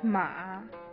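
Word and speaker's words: 马: The syllable is formed by a consonant m and a vowel a.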